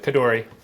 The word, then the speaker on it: Khardori: Khardori? Is that pronounced correctly? Yeah, that's good. Khardori.